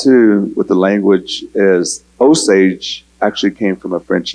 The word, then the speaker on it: Osage: that, and I guess in French, wa is spelled with an O. And then the ja was their S and the A, and their G was a G and a E, which now got translated to Osage in the English language.